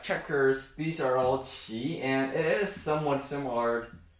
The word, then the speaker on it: 棋: But just remember it's pronounced qi, qi.